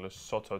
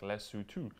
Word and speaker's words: Lesotho: show i have to say you guys are pronouncing los sotto terribly wrong it's pronounced like lesotho love you guys have a nice la hom